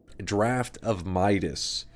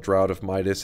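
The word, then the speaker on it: Draught of Midas: into a gold liquid called draft of Midas which I always mispronounce and call it drought of Midas and then chat baby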